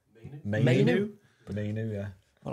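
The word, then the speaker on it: Mainoo: Well, I'll keep getting his name wrong. Mino. What is his name? Mainu.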